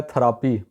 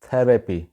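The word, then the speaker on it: therapy: ہے۔ نیکسٹ ہے جی تھیراپی، اس کو وہاں پہ بولا جاتا ہے تھراپی، یہ غلط ہے، اس کا صحیح گوروں والا تلفظ ہے تھیراپی، تھیراپی، تھیراپی۔ اگلا لفظ ہے جی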